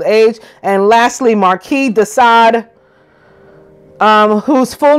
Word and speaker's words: Sade: The words sadist and Satanism are derived from his name, because his name is spelled S-A-D-E, like Sade, the singer, but it was pronounced Sade, de Sade.